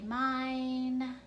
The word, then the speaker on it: mine: and let's do the word mine everyone say mine okay let's tap it out mmm-hmm am i